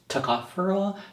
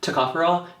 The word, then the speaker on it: tocopherol: alpha taco furole that's how you say it tocopherol tocopherol and point five percent foreign acid so the